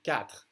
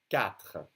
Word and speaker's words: quatre: Q, as in quatre. The U is silent. Quatre.